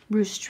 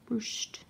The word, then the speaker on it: ruched: And I think I'm saying that right, because that's the way they said it. They said that's the way to pronounce it. Ruched ribbon. Ruched.